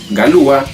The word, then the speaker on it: Galois: que se llamaba evarist valois que se pronuncia galúa el cual tenía sus